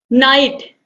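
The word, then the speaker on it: knight: का प्रयोग होता है तो साइलेंट शब्द का प्रयोग हम इंग्लिश में करते हैं जैसे की नाइट के एन आई जी ह टी इसका मतलब होता है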